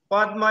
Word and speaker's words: পদ্মা: সেই বর্ণটি দুইবার উচ্চারণ হয় যেমন এখানে দেখো পদ্মা দেখেছো পর সাথে দয় মা ফলা আছে তাই না প দয় মা ফলা আকার জি লিখছি আমি পদ্মা ছদ্দবেশ হ্যাঁ পদ্মা লিখছি কিন্তু উচ্চারণ করছি কি পদ্মা উচ্চারণ কি করছি পদ্মা